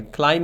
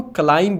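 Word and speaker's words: climb: हम दरख्त पे चढ़ेंगे क्लाइम मीन चढ़ना इसको क्लाइम मत पढ़ना डियर फ्रेंड्स ये क्लाइम है। ठीक है? यहां पे बी साइलेंट है।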